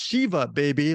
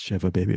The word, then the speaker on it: Shiva Baby: not the one who you mispronounced Shiva baby like I did so Bruce perkey it's Shiva baby of course what is